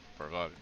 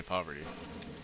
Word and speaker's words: Parvati: Like so far I've just been going with Vicar, Max, and Parvati. I keep wanting to say poverty, because that's how it's usually pronounced.